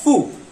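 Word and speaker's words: ふ: तो इसका जो प्रोनाउंसिएशन है वो हा, ही, हु होना चाहिए था, लेकिन ये थोड़ा एक्सेप्शन है, इसका प्रोनाउंसिएशन आता है फू।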